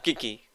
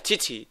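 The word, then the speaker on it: Qiqi: Aquí tenía a Kiki. Que recordemos, Kiki se pronuncia Chichi. Y yo nunca le pronuncio Chichi porque estoy acostumbrado a llamarla Kiki. A ver si se carga hoy.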